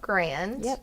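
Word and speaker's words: Garand: that because they got to shoot the M1 grand did I say it right that's right and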